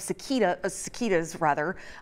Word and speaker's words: cicada: Two periodical breeds of cicadas will come up and out of the ground across the Midwest and Southeast.